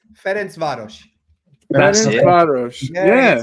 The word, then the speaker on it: Ferencváros: Ferencváros. Yeah. It's Ferencváros. That's exactly how you pronounce it.